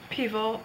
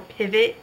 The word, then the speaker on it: Pivot: i would do um the bernard pivo questions from or pivot how they say it in upstate florida um questions from inside